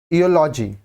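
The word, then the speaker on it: eulogy: यूज अ year next योलॉजी ठीक है लॉजी लॉजी starts with अ consonant sound य लॉजी article ए ज यूज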